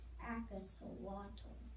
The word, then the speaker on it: axolotl: They let me breathe underwater, and in case you're wondering, my name is pronounced axolotl.